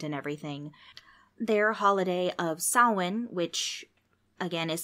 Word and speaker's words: Samhain: Scotland in Ireland and everything their holiday of Sawin which again is spelled looking like Samhain si ma che I n but pronounced saw one started off the whole thing and then they